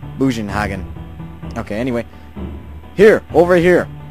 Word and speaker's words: Bugenhagen: I want to pronounce it German-wise, which would be like... it sounds something like Bugenhagen.